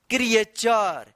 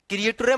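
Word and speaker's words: creature: टी यू रहता है तो इस टी यू का उच्चारण च होता है। क्या उच्चारण होता है? च। ध्यान रखिएगा आप। क्या पढ़ेंगे इसको? क्रिएचर। क्रिएटर मत पढ़िएगा।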